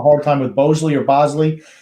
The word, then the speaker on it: Bosley: but since it's not it's b o s l it's bosley not boseley oh my goodness gracious